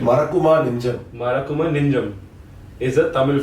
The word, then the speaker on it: Marakkuma Nenjam: Marakkuma Nenjam, right pronunciation? Marakkuma Nenjam.